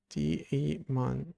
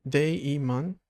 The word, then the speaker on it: daemon: I'm from Germany and I pronounce it separately. D-E-mon. Day-E-mon. Instead of together as daemon or demon, like soundings.